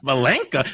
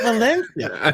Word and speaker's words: Valencia: Valenka, but you're saying it wrong, honey. It's Valencia.